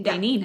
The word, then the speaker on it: Daynene: It's spelled Daynene. Oh, okay. Dainine.